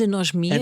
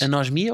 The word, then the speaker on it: anosmia: tens anosmia Guilherme ginas anosmia ou anosmia agora estamos a falar de sílabas tónicas Eu não anosmia eu diria anosmia anosmia tem acento não tem acento mas anosmia dá-lhe um ar mais nojentinho anosmia não é a ele